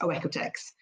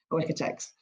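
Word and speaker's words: OEKO-TEX: In English, it's pronounced oeoteex. Oeotex.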